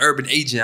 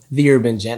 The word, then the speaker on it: The Urban Gent: Goddamn, I call him the Urban Agent. I felt stupid. Nah, man. Listen, I've been called that name numerous times. A lot of guys be like, hey, yo, is it, how do you pronounce it? The Urban Gent.